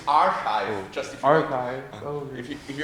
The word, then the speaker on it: arXiv: So it's archive, just if Archive. if you want a pronunciation guide, it's archive.